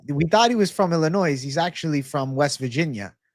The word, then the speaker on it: Illinois: THE S is silent, We stole that from the Native Americans, okay? It's Illinois.